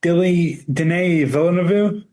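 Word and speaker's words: Denis Villeneuve: Dilly D. Villainu. That's exactly how you say it. Deli deli meat villainoo. No. No. My official guess deni villain of you. Close. Denny. Denny villain of.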